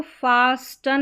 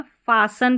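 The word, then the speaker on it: fasten: इसमें इसको फास्टन नहीं पढ़ना है। फासन पढ़ना है। ठीक है? टी यहां पर ट उच्चारण नहीं होगा।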